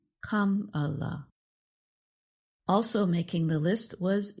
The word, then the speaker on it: Kamala: Democratic National Convention to teach the crowd how to say her first name, pronounced Kamala.